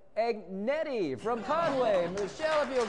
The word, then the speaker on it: Agnetti: Agnetti? Yeah, that's it. Oh, now you said, now a lot of folks mispronounce that.